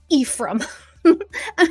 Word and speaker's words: Ephraim: I'm getting wrong Ephraim so I kept calling it old Ephraim and Tyson finally just goes if you're gonna say it say it right it's E from I was like oh noted